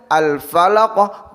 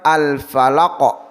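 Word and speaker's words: الفلق: Jadi ahad bukan ahada, assomad bukan assomada, alfalaqo bukan alfalaqoh.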